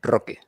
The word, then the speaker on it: Roque: roll that R again. Say his name for me one more time. Roque. Roque. It needs more strength. It's Roque.